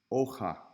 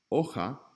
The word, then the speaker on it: hoja: Notice when a word starts with an H, start with the vowel as the first syllable. So we have ay, hasta, y hoja, not hi or hey, not hasta, hasta, and hoja.